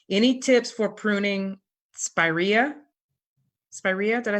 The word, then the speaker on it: spiraea: and I'm sorry any tips for pruning spiraea spiraea did I say it right that's perfect okay